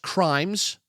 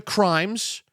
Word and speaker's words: CMIRS: It's pronounced crimes. Yes, welcome to crimes. It is spelled wrong and that's that's on purpose.